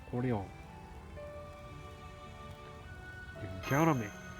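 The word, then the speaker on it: Orléans: It's not Orleans, it's Orleans.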